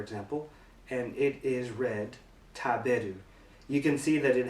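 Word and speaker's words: 食べる: So we'll take this kanji, for example, and it is read taberu.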